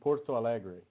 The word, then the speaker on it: Porto Alegre: medicine degree dr cardoza so that would be porto alegre thank you so beautiful when you say it